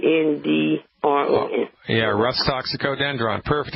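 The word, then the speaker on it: Rhus toxicodendron: spell it it's a Latin name it's called Russ toxicodendron Wow I know here's how you spell it all right it's easy it's are like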